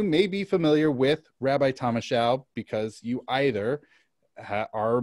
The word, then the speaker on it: Thomashow: So Thomashow, not Thomashow. That's right. Yeah. Like a show. Mm-hmm. Okay. So that's the first sentence. Hopefully I'll pronounce everything else. All right. So Rabbi Thomashow attending college at Brandeis University.